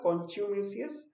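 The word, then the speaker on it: contumacious: इसकी भी प्रोनाउंसिएशन में ध्यान दीजिएगा. कॉन्च्यूमेसियस, इसका मतलब होता है स्टबर्नली डिसोबीडिएंट.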